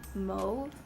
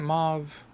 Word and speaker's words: mauve: this sort of deep mode did she say mo isn't it mauve have i been saying it wrong the whole time because i thought it was mauve now i'm gonna be